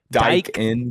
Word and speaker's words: Daikin: Daikin, yeah.